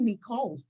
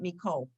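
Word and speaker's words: מכל: because i i did i say me cole um i say call meaning all and from all and i do it i don't say mikao um and honestly i really you hear most hazarim pronouncing it miko you will hear that um so like i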